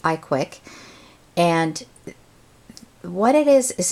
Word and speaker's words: ICWIC: invitation to a Blog it's called the I CWI I which pronounced iquick and what it is